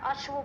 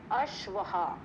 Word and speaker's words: अश्वः: तो अश्व मतलब घोड़ा, पर हम क्योंकि वो संस्कृत शब्द है पर उसमें विसर्ग नहीं है तो उसका उच्चारण गलत हो जाएगा। अश्व गलत है, उसको हमें कैसे बोलना है, अश्वहा, अश्वहा। या आ का जो वो आपका वो है, उच्चारण करते समय आ का जो है वो शब्द आना चाहिए, अश्वहा।